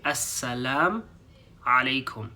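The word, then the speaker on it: السلام عليكم: have lamu okay so sometimes people don't pronounce the U at the end and they just say assalam alaikum but because we're beginners we want to learn how to say the full greeting properly as a lamu assalamu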